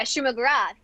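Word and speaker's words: Shuma-Gorath: Yeah, Shuma Gorath.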